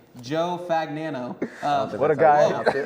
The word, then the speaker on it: Fagnano: So, this guy's name Joe Fagnano. What a guy. That's how you pronounce it.